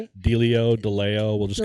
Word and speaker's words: DeLeo: Nathaniel from Dio Brothers. Yep. Did I say it right? Dio Deleo.